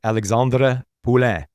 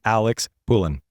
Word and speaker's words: Alexandre Poulin: Alexandre Poulin. I used my best French accent for that. From this point forward, I would have butchered that. From this point forward, it'll be Alex Poulin.